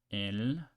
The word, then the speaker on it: el: So let's pronounce it and see if you can get it. El.